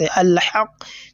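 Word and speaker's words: الحق: They are the letters of lam al-qamariyya, and whenever they comes immediately after lam ta'arif, the sound of that lam should be clearly pronounced.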